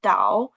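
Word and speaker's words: 岛: Um, it's pronounced dao.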